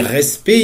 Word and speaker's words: respect: l'adjectif c'est respectable donc quand je dis respect il y a deux conson mett de fin que je ne prononce pas pour les grands Manitou